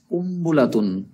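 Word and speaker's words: قنبلة: শব্দগুলো তো গুরুত্বপূর্ণ শব্দ কুম্বুলাতুন কুম যদিও কুন হয় কিন্তু নুনের উচ্চারণটা মিমের মত হয়ে যাবে কুম্বুলাতুন কুম্বুলাতুন একটি বোমা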